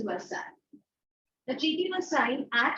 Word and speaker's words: Versailles: The treaty was signed in a place called yes, the spelling is Versailles, the pronunciation is Versailles.